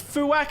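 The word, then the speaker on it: Fuack: I do have to be careful how to pronounce it it is fuak and this is actually based on a platypus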